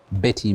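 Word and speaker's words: Bette: Why don't we play Wind Beneath My Wings by Betty Milder. Betty, actually. Pronounce it Betty.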